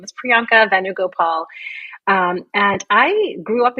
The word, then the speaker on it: Priyanka Venugopal: so support certified OB GYN and as you pronounce perfectly my name is Priyanka venugopal um and I grew up in New Jersey